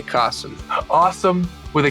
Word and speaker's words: Kasim: It's Kasim. It's like awesome with a K, Kasim.